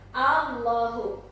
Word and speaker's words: Allahu: Allahu, A panjang dulu, baru ditasjidkan ke huruf lam yang di depannya itu ya.